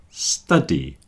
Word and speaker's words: study: Student and studio, but study. Study. You see how the beginning of these three words, the last one is different. Student and studio both have a stew, but study has study.